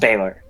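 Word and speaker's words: Balor: what this looks like it's spelled be a lor and it's pronounced Beeler and summon oh it's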